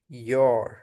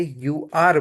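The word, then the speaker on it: you're: ন এইটার উচ্চারণ হবে ইওর। আমরা অনেকেই মিস্টেকটা করি যে আমরা এটাকে ইউ আর বলি। এটা ইউ আর না এটা ইওর।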